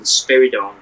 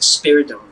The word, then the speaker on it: Spiridon: when it said Vulcan, Spiridon, one criticism I have to make is it's not pronounced Spiridon, it's Spiridon.